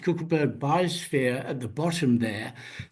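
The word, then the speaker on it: Kogelberg: itself that occurs in the co cleberg it's pronounced cleberg biosphere at the bottom there this is a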